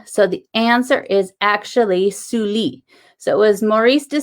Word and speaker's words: Sully: uh then on so the answer is actually suli so it was maurice de sully so you